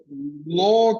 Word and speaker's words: law: Law aslında law kelimesi Türkiye'de bazen law diye okuyanlar var. Hukuk okuduğu halde law diye okuyanlar var. Law diye okuyanlar var. Doğru okunuş şöyleymiş. Law. Law. Yani sondaki W'yu söylemiyoruz. Law.